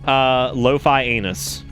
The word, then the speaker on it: Lofianus: Lo-fi anus, which is if you want to pronounce it correctly, it's Lofianus.